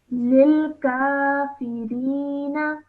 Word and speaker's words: lil kafirina: So wattaqun Wattaqun narallati rallati uiddat uiddat lil kafirina. lil kafirina. Okay, excellent. Well done. Just make sure not to elongate the na sound at the end. Just keep it simple for 1 second.